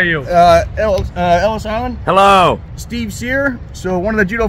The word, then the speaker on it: Cyr: Steve Sear.